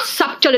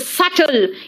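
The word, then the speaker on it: subtle: This is नॉट सब्टल, इट इज सटल, यानी not noticeable.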